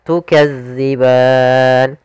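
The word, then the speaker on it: تُكَذِّبَانِ: panjangnya dua harakat serta tukadziban hati-hati dalam melafalkan Za jangan dibaca dengan Zai karena nanti merubah maknanya tukazzi makhrajnya agar sempurna kita lafalkan dari ujung lidah kita menempel dengan gigi di atas kemudian pada lafal ban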